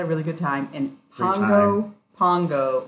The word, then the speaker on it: Pago Pago: really good time and Pongo Pongo rhymes with Bongo Bongo people are super friendly